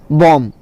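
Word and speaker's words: bomb: Next है आपका बॉम्ब, है ना। बॉम्ब में आपका बी साइलेंट, बॉम्ब यानी बॉम्ब।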